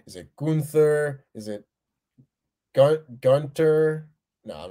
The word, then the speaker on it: Gunther: to remind everyone that gunther does not have a th in the name the h is silent yes it is technically gunter supposedly i'm not calling